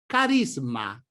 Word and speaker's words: carisma: The pronunciation of this Italian word is therefore CARISMA: masculine - singular, CARISMI: masculine - plural.